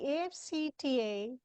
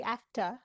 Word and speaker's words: AfCFTA: The AfCFTA, or the AfCFTA, as you corrected me, is the right way to say it, has been in the news for some time.